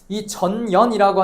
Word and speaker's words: 전연: 바로 전년의 맥약이라는게 나와요.이 전연이라고 하는 건 발음 잘해야 된다 했어요. 앞에다 대고 전연했다가 싸움이 벌어질 수도 있습니다.